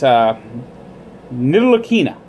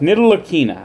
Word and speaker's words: Ntilikina: Ntilikina. That's how it's pronounced. Ntilikina.